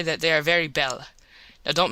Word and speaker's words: belle: that they are very belle. Now don't mispronounce things and get sore till you know. You pronounce that like bell and push button.